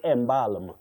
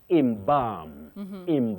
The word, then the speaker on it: embalm: For those people who say embalm. Embalm. No, that L is silent. You say imbalam.